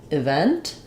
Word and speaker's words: event: the start of words sometimes E when it's unstressed it's often going to be an if sound like um Escape um uh event for those what I would say is start with a stress syllable vent event so that you can stay